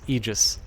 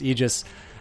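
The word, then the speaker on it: aegis: the Oxford English Dictionary the Oxford English dictionaries pronunciation is egis so um another common thing you'll hear in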